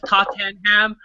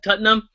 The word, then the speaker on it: Tottenham: you pronounce it as Tottenham but like if you actually follow soccer you pronounce it different you pronounce it cutting them so it's like don't